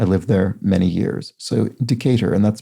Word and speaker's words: Decatur: i i must have said something like a decatur or something like that but long way to temporary says the name is pronounced decatur in georgia i lived there many years so decatur and that's spelled d-c-a-t-u-r so thank you long